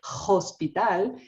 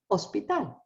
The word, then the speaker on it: hospital: to show them ah remember the ancient Spanish is silent you don't say Hospital you say Hospital you don't pronunciate so